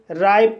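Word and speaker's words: ripe: आर को रा पढ़ा जाएगा, आई को आई पढ़ा जाएगा, पी को पा पढ़ा जाएगा और ई साइलेंट रहेगा। इस तरह से राइप पढ़ा जाएगा और राइप मीन्स पका हुआ।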